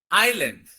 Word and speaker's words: island: As S is silent, దీన్ని మనం ఎలా ప్రొనౌన్స్ చేయాలి? Islands. Please say after me.